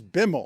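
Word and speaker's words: Bimal: COO's name is Bimmel. Hey, a nice guy. And Biml, this is great. Bimmel, uh, Bimmel is spelled simply B I M A L.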